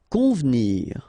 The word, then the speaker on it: convenir: Convenir. Okay, so the E here is not really pronounced, so first you've got this nasal, on, convenir, convenir.